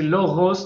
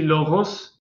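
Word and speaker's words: λόγος: Oui, Jonathan a raison, c'est Loros normalement. Je sais pas comment la prononcer, ça. Efnuti puis Loros. Moi, voilà, moi, on va dire que j'ai un accent. Je sais que ça se prononce Loros, mais parfois j'ai un accent. On va dire, je prononce G. Voilà. J'ai tendance à Ça vient, prononcer G.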